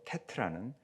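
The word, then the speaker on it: ט: 그래서 테트라고 읽고요. 발음은 T 발음이 납니다.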